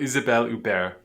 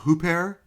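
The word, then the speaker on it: Huppert: Yes, we're talking about Isabelle Uber. Yeah, pair. That's how you say it. It's not hoopair. It's not Hubert. It's u.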